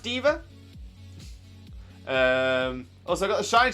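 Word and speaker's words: D.Va: at the minute uh and yes pronounced diva she's actually a super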